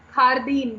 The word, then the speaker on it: jardín: Jardín, garden is pronounced as JARDIN, which is pronounced as jardín. तो Spanish में तो ख साउंड ही होती है.